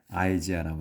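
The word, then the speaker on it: Isaiah: 이사야 이제 우리는 이사야라고 하는데 영어로 이제 할 때는 아이지아라고 합니다.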